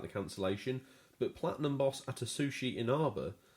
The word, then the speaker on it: Atsushi Inaba: Microsoft, the game's publisher, took a lot of the heat about the cancellation, but Platinum boss Atsushi Inaba says Platinum is to blame as well. Great pronunciation on his name.